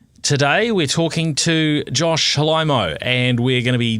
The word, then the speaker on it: Faraimo: Today we're talking to Josh Faraimo, and we're going to be delving into the story. Great work, mate. That pronunciation, you nailed that.